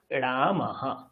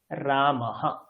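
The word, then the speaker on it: রামঃ: বিসর্গ আছে তার মানে বিসর্গের আগে যেই বর্ণ আছে সেই বর্ণের মত হকারের উচ্চারণ হবে তাহলে রাম আর এখানে আছে আহা হ লিখলাম পাশে একটা হ লিখলাম যোগ করে দেন কি হয়ে যাবে রামাহা এটা হচ্ছে উচ্চারণ হয়ে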